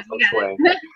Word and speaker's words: feng shui: No, Feng Shui.